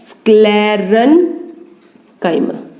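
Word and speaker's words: sclerenchyma: उसके बाद है स्क्लेरन-काइमा, क्या नाम बोला है यहाँ पे, पैरेन्काइमा, कोलन-काइमा, स्क्लेरन-काइमा।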